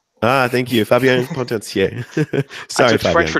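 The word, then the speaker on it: Potencier: Pontancier. Ah, thank you. Fabien Pontancier.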